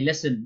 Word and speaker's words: listen: silent there okay it's not the case with listen you can't be saying that as a Liston that is definitely listen but in this case often often you can